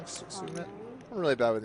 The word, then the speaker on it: Sumit: Summit or Sumit? I remember saying it wrong. Sumit.